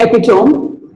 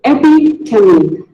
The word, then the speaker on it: epitome: It is not epitome, it is epitome.